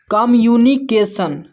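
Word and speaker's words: communication: लेकिन किसी एक ही एम का उच्चारण करेंगे यहां पर तो सी ओ एम तो कम और यू का उच्चारण यहां पर यू हो रहा है।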